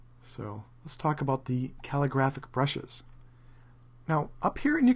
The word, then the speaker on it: calligraphic: going to talk about calligraphic brushes and I was recently informed that I was saying it wrong it's calligraphic and I was saying calligraphic like it was terrific but you learn something